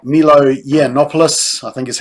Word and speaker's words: Yiannopoulos: It also targets right-wing commentators like Milo Yiannopoulos, I think is how you say it, and other right-wing commentators, especially anybody who says only women can get pregnant.